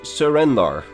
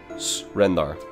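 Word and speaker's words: S'rendar: In elsewhere, the Khajiit worship him as Surendar. You know, surrender, Surendar. Sorry, I find it a very fun pun. But it's actually S apostrophe Rendar. So, Srendar.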